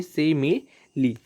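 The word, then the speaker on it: simile: वैसे ज़्यादातर लोग सही ही प्रोनाउंस करते हैं, लेकिन कुछ लोग स्माइल वगैरह बोलते हैं इसको, तो ऐसा ना करें, इंग्लिश के साथ अत्याचार ना करें और सही प्रोनाउंस करिए सिमिली।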